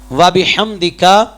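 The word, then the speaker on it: وبحمدك: ہم جلدی جلدی پڑھتے ہیں سبحانک اللہم و بحمدک، نماز میں بھی یا نماز جنازہ میں بھی، تو یہ طریقہ غلط ہے، تلفظ غلط ہے، اس سے ادائیگی نہیں ہوگی.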